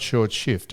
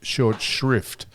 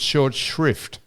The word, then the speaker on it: short shrift: Not short shift. Short shrift. That's one of the most commonly mispronounced sayings. What's the word? It's not short shift. It's short shrift.